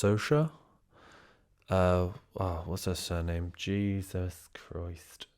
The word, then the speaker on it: Saoirse: I watched See How They Run, which is the, I believe her name is pronounced Sosha.